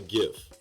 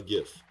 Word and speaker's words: GIF: I've always called this a GIF. So with a hard G would make it a GIF.